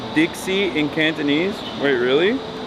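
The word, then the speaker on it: 的士: Taxi is pronounced pronounced Dixie in Cantonese. Wait, really? Dixie.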